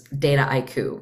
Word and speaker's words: Dataiku: The company I work for, the name is Dame-IBM, kind of like haiku with data, but totally fair that it is weird to pronounce if you've only read it.